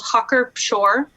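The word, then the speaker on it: Hacker-Pschorr: If you want to have a good one, a proper one, you need to have, it's called Hucker Pschorr. So it's spelled like hacker and then Pschorr.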